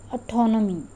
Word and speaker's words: autonomy: Next word is autonomy. Many of us pronounce it as autonomy. It is not autonomy. It is o-ton-o-me. Four syllables are there. Four syllables mean four vowel sounds are there.